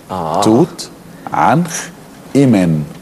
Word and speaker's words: توت عنخ آمون: اللغة العربية والأجنبية إن احنا عايزين ننطق اسم هذا الملك صح الأول. توت عنخ إيمن. إيمن. ما فيش حاجة اسمها آمون في الخرطوش.